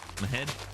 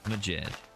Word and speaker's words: Majed: Mahed? Nope. Majed? You pronounce the J. Majed.